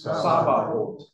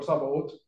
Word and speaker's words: Sabaoth: So I think the TH is kind of pronounced, Okay. but it's really kind of a soft TH, right?